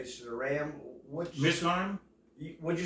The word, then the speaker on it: Mizraim: How do you pronounce it? For Zeram, I mean, you should say Zeram. Mizraim?